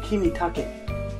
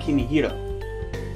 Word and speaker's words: Kimitake: It's Nishio Kimitake, not Nishio Kimihiro.